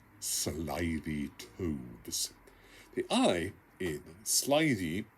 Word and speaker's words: slithy: has been often asked of me how to pronounce slithy tubes the eye in slidey is long as